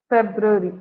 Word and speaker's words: February: Okay, so ஹவு டு you pronounce this? February. February.